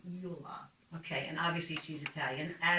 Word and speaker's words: Iula: With me today is a good friend of mine, Rose Iula. Do I ever pronounce that right? Iula? Iula or Iula. Oh, If you were in Italy, it would be Iula.